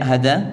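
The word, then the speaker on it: هٰذَا: dalam al-qur'an itu kemudian hadza itu bacanya panjang apa pendek hadza panjang panjang ya Jadinya apa H hadza ya ha-nya panjang ya seperti itu Naam kemudian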